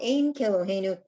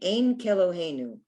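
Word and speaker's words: אין כאלהינו: So Ein Keloheinu, Ein means there is not.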